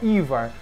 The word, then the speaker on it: Yhwach: um nome em alemão se chama ivar é um nome bem estranho né não tem nada a ver ali com o que se escreve mas se pronuncia ivar esse ivar que é